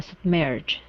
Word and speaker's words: submerged: submerged fully sub uh submerged okay give me a d at the end fully submerged fully sub